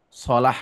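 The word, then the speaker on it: صلاة: Bahkan kawan-kawan, sholat itu, sod lam tak marbutoh, sholah dibacanya, itu bahasa Arab. Dan satu padanan kata dengan silah. Beda harokat doang. Sholah pakai fathah, sodnya sholah. Silah pakai kasroh, silah.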